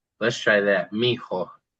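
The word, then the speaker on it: mijo: And also, you might hear it as one word because it's moving fast. It could be as if it was spelled m i j o. Let's try that. Miho.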